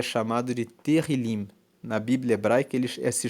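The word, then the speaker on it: Tehilim: Salmos no texto original ele é chamado de terim na Bíblia Hebraica ele se chama o nome desse livro é terril terril se escreve t e h i l i m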